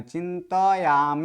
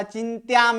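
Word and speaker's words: चिन्तयाम: व चिंत पूरा है त में अ है तो इसका अ का उच्चारण करना है चिंत याम इस प्रकार से उसका उच्चारण करना है ऊपर वाला चिंताम होता है तो ये चिंताम नहीं है चिंताम नहीं है क्योंकि त आधा त अलग है और य अलग है यानी त का वहां पर उच्चारण संपूर्ण करना है चिंत याम अगर यहां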